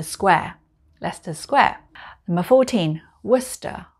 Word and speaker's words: Worcester: leicester's square number 14 worcester worcester a bit like the famous sauce you would ask for